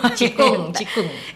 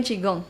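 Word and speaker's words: 气功: Cikung. Qigong sama qigong apa sih bedanya? Lah, I'm confused bacanya sometimes. cikung. Tapi ngomongnya bukan qigong. Bukan. Kalau bule-bule ngomongnya qigong. Ya karena mereka nggak tahu bahasa ngomong Chinese-nya.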